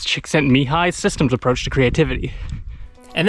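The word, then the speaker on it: Csikszentmihalyi: can see that in mihai impossible to pronounce chick sent me high systems approach to creativity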